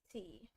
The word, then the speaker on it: Feist: I think it's oh yeah, Fiest. I think that's how you pronounce it. It's Feist.